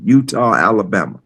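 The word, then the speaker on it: Eutaw: Spelled with a eu t- a w. Utah.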